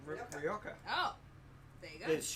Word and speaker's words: Rioja: Tempranillo Rioja, or Rioja if you spell it our way. Well, Rioja if you pronounce it. Now- the way the Spanish do.